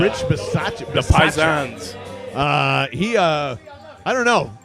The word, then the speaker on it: Rich Bisaccia: How do you pronounce It's it? Rich Bisaccia. Rich Bisaccia.